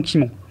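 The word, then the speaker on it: Cimon: sont des opposants politiques pass et Simon Simon Kimon je sais je le lis donc je sais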